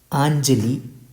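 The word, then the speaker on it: angeli: So NG is pronounced as Inja in this word Anjali. Anjali means angels.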